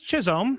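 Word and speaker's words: Chisholm: Jazz, how do you pronounce that? Jazz Chisom.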